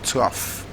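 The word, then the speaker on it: trough: is where that a number of us probably mispronounced the word is actually tough stuff so the gh in the words of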